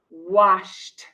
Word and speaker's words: washed: The word wash ends with an sh sound, wash. So with ed, the pronunciation is washed, washed.